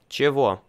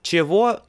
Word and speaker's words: чего: Чего? Pronunciation of word чего means not чего, is чего.